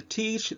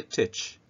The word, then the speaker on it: teach: uh like for example teach a lot of people say titch okay let's talk about